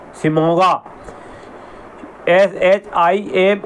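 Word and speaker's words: Shimoga: और सिमगा सिमोगा े शायद मेरा गलत हो सकता है थोड़ा बहुत लेकिन डी ए वी ए एन ए जी ई आर ई दवांगे दवांगे अगर मैं सही बोल रहा हूं उच्चारण सही कर रहा हूं और सिमोगा सिमोगा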